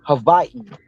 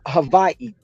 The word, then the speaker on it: Hawaii: it's it's actually pronounced Havi they only use hav yeah Havi so the W's are not is not a w it's two v's put together um anything with a